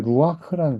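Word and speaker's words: רוח: 이제 엔드죠 베 자 이때 루아크라는 단어가 루 원래 이제 루크 이렇게 돼야 되는데 루크 그렇게 발음하기가 어렵단 말이에요. 원래 후이음 받침으로 들어가면 발음이 어렵습니다. 루크. 그래서이 발음이 어려우니까 이거 발음을 좀 쉽게 하기 위해서 여기다가 R를 살짝 삽입을요.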